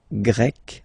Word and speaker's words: Grec: So you get the country, la Grèce, and then you get Grec, masculine form, Grec, feminine form. You write them differently, but then, if you listen carefully, Grec, you pronounce them the same way, okay?